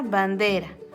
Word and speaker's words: bandera: Tiene dos vocales a los lados y su sonido es débil. Niñera, tijera, sopera, bandera.